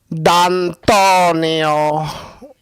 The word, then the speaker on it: D'Antonio: It sounded like this. D'Antonio. That's how he said it. I'm trying to say it like he says it.